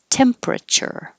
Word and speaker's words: temperature: You don't have to say temperature. You can make it shorter and 3 syllables. Temperature.